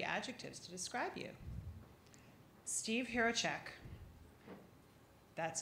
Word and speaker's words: Hrehovcik: Steve Hrehovcik. That's how you pronounce it.